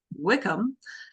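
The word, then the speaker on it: Wycombe: calling wome oh and it's actually pronounced Wickam um very different anyways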